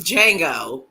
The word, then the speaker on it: Django: The D is silent. It's Django.